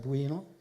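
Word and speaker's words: Bwino: And Honorable Fred Kyakulga Buino, not Bono, but Buino, the Minister of State, both of them from the Ministry of Agriculture and Animal Industries and Fisheries.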